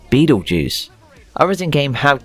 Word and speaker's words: Betelgeuse: pronounce it anyway Beetlejuice the original preferred pronunciation for the word was Beto Dukes later becoming bad or Jews although it sounds like beat all Jews and that ain't right so the preferred pronunciation now is Beetlejuice I was in game